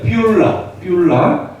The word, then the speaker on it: 뷸라: 여기 발음이 좀 어렵죠. 뿔이 아니라 이 머리 뿔이 아니라 뷸입니다. 뷸라 뜻은 결혼한 여자.